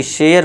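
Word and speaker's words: share: अब इसे क्या पढ़ेंगे? सारे नहीं शेयर पढ़ेंगे। क्योंकि क्या है? ए के बाद आर ई है। तो इसे क्या पढ़ेंगे हम? शेयर।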